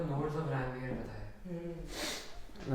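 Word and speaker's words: Ranvier: और अच्छा, इन लोगों ने नोड को नोड्स ऑफ रैनवीयर बताया। उसको रैनवीर नहीं, रणवीर बोलते हैं अपन। ठीक है, नोड ऑफ रैनवीर। रणवीर, बस स्पेलिंग थोड़ी सी अलग है।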